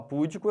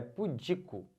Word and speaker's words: pudico: que anda muito pura ela é pudica e não pudico se você fala pudico errou tudo perceberam é pudico ou pudica tá essa aqui galera